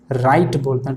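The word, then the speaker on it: write: राइट and night, ये भी आएगा ना, उसको राइट नहीं बोलते, लेकिन उसको क्या बोलते हैं, राइट बोलते हैं, W का प्रोनाउंसिएशन नहीं होता है।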